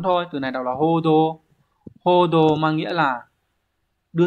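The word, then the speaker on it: 報道: duy nhất từ số 4 thôi từ này đọc là hodo hodo mang nghĩa là đưa tin thông qua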